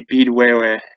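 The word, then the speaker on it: Petawawa: And likewise, Padawawa, the Canadian Forces base there, would be Beedwewe, and it's talking about the sound of the fall, like the falls in the river there.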